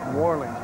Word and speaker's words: New Orleans: New Orleans, we pronounce New Orleans up here.